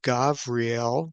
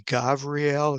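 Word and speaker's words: גבריאל: form the name of gavriel. Um the v and the b's can be pronounced uh either hard as a b or soft as a v.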